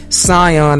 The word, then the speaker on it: Scion: I should correct you on the pronunciation. Scion. So people know. That's a bit over enunciated, but Scion is the correct pronunciation.